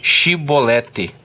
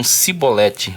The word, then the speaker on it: Shibolete: Então eles diziam: dize, pois, Shibolete. Porém eles diziam Sibolete, uma questão de pronúncia, né?